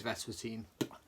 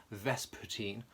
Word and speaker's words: Vespertine: already because it is verse fourteen said it wrong Vespertine by björk this is